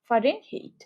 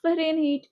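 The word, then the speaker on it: Fahrenheit: তো প্রথমত FAH হবে, ফারেনহাইট, ফা, তারপরে রেন, তারপরে হাইট বানানটা দেখো, HEIT, হাইট। সো এই মাঝখানে একটা ই হবে, ফারেনহাইট। উচ্চারণ তুমি এভাবে করো, ফারেনহাইট, ফারেনহাইট।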